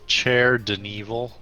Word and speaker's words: Caer-Dineval: It's actually pronounced Caer-Dineval. Oh. Yeah, it's a C as in like the Italian Unrelated.